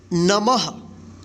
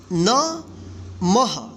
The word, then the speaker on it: नमः: तो म के बाद जो है ना ह का उच्चारण होगा, ठीक है। तो मह इसको पढ़ेंगे। तो देखिए अब इसको एक साथ पढ़ेंगे, नमः, न मह, क्या होगा नमः।